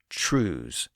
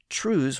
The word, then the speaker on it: trews: That early date would explain how the pronunciation changed over time, because the word trews was almost certainly altered by the Great Vowel Shift. By the late 1500s, the word was commonly pronounced as trows, on its way to becoming trows.